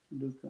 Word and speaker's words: lucre: You have to say lucre, do you?